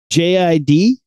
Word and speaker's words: JID: I was like, I just got into JID. That's pronounced Jid. That's what I think it's pronounced too, but I don't know how this guy says his name, but he's got some good hip hops.